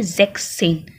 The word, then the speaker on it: sechzehn: We deduct the word S. So S is not used. No. It's only sechzehn. Sech and then zehn.